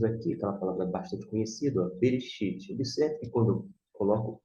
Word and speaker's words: Bereshit: B com E, B. R com E, RE. Aqui no caso é mudo, aqui é mudo, e aqui você tem o X, Ti, Shit, Bereshit.